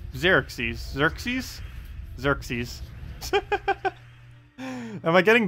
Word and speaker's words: Xerxes: his name's Eric C's Oh has it been Xerxes this is entire time that actually does sound correct Zarek's YZ is that correct or did I make a new invented a new way of mispronouncing it zero C's that sounds very much correct I didn't realize that was what people were actually trying to get me to pronounce Oh go take the